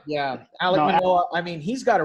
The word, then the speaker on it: Alek Manoah: Yeah, Alek Manoah.